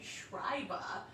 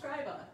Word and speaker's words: scriba: roman government so scriba i kept saying schreiber right and then it was just like when i looked up the name it was like okay scribe right it's pronounced scriba again right like how'd